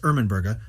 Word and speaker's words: Ermenburga: Ermenburga, pronounced Ermenburga, otherwise called Domneva, was married to Merwald, a